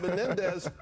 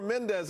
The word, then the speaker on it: Menendez: other day for Bob Menendez but they mispronounced his name and said you got to vote for Mendez I said no it's